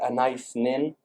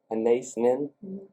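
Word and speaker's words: Anaïs Nin: know the great poet an nin am I pronouncing that right an nin a n a i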